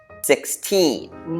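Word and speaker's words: sixteen: And for the second one 16 we say the second part a little harder or a little stronger. 16.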